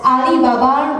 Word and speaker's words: Alibaba: It is pronounced as Alibaba regardless in English or in Chinese.